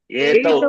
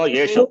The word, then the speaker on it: एतौ: येषौ बालकौ Etau. There is no Yeshau.